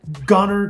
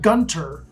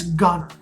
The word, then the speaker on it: Gunter: it is number two gunner texas now if you're not from here you might call it gunter but you don't pronounce the t the only people that say gunter are those that aren't